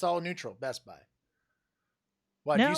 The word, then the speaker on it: Best Buy: say that best buy you say best buy like your emphasis is on the best best buy yeah there's i'm kind of like no emphasis there's no emphasis it's all neutral best buy why don't you say